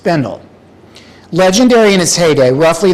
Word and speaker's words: Bendel: Many know about the now shuttered store, Henry Bendle, which closed in 2019. Few know much about Henry Bendle, the man. And if you're wondering why I'm not saying Honore Bendelle, turns out that's just one of many myths